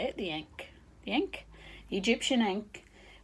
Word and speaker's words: Ankh: That's the right way to say it, the Ankh.